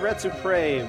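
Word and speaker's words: Retsupurae: Part of Red Supre, which is a poor pronunciation of Let's Play.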